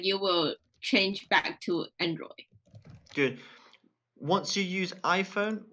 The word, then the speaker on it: Android: one more time uh Android good make sure you get that D at the end Android okay Android yeah good